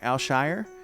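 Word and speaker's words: Al-Shaair: saying his name wrong al Shire it's it's like written like it's a shy year but but mayo co says that it's it's al Shire so and he's like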